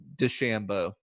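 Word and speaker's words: DeChambeau: de Shambo I've yeah adjusted the way I pronounce his last name I've decided it is de Shambo D Shambo and I just oh yes and I just pronounce it phonetically and I'm having Patrick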